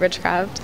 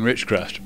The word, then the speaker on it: Richcraft: get used to saying richcraft because you know for 3 years I've been calling it The River Building but I'll be be able to remember uh because it rhymes with witchcraft River Building forever well